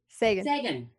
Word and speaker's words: Sagan: How do you pronounce it, Bryan? Sagan.